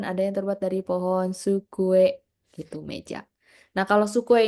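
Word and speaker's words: 机: lihat kanji terus ada sukue sukue hati-hati antara pengucapan su sama su ya Su ada t-nya di depan su kue atau meja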